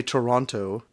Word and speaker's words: Toronto: Unfortunately, the Toronto, because that's how locals say it. The Toronto? Yeah. The non-Canadians say Toronto.